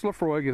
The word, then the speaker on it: Laphroaig: to you a little bit about it Laphroaig pronounce Laphroaig is an all malt scotch whiskey from the